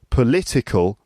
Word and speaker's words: political: then uh the adjective political political the the word stress is on the second syllable political and then the